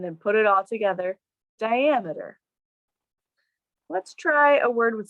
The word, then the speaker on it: diameter: then i'm going to add the ah the syllable with the aval ammeter ammeter and then put it all together diameter let's try a word with slightly different sounds